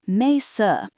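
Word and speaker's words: แม่ซื้อ: This is where Mae Sue enters, pronounced Mae Sue.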